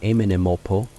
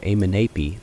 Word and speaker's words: Amenemope: Since final N had already disappeared in the spoken language by this time, Amenemope would have been pronounced without it, even though the orthography remained unchanged. There is also considerable evidence that the internal nasals were assimilated, so that the name would have been pronounced more like Amenemopo or Amenepi than Amenemope. The name means Amun in